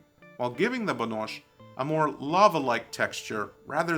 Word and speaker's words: Banosh: wooden spoon or don't pronounce it Banosh like the mountain folk do, chill out.